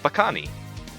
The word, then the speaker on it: bakani: crab what's the crab called crab is called bakani Baka neat that's how it's spelled b-a-k-a-n-i one of the most common creatures